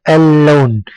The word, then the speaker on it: اللون: واللام والنون فمثلا كلمه اللون اللون اللون اللون اللون اللام هنا لام شمسيه لانها جاءت بعدها لانها اولا كتبت و ولا تنطق ثانيا انها جاءت بعدها لام مشدده تنطق وكاننا ننطقها مرتين اللون مثلا كلمه النوم النوم